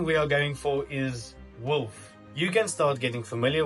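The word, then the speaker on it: Wulph: my company is Wolf now wolf is not spelled as in W LF but in indeed it is spelled w u l p h and I just find it kind of irrelevant but just as a fun fact but the pH in the end for like pH in water so that's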